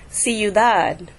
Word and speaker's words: ciudad: Can you hear that I'm putting the stress on the dad and not the ciudad? You hear the difference? Ciudad, not ciudad. Okay, the stress is on that last syllable. Why are we putting the stress on the dad? Because when a word ends with a consonant other than N or S, the stress falls on the last syllable.